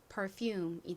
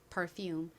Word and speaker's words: perfume: P는 피읍 소리 나고 ER은 소리 나죠. F는 한국식으로 피읍으로 표기하고요. 실제 발음은 좀 세게 F 소리가 납니다. 그리고 이 뒤에 있는 UM 역시 긴 소리가 나고요. 연결하면 perfume이 됩니다.